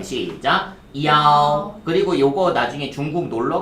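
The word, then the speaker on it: 幺: 다음에 전화번호 같은 거 얘기할 때 야오. 발음 시작. 야오.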